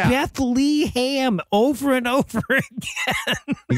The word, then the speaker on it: Bethlehem: I almost went with best worst pronunciation of Bethlehem he's like Bethleham or whatever the beam he says Bethlehem over and over again